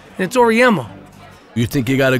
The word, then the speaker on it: Auriemma: You ever think about maybe coaching men, Auriemma? Nah, I mean, got a good thing going, you know. It's Auriemma.